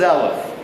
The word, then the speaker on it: Eleph: The word is Eleph. These are the heads of the Elephs. All right? Eleph. Now, Eleph is a Hebrew word, like Eleph, like the English word elephant. Eleph. E-L-E-P-H.